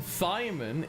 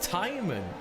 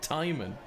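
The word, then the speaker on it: Thijmen: apparently us calling him Thyman is not actually accurate. It's not a TH, the H is silent, it's Timon. So it's very close to how we pronounce it, but it's actually Timon.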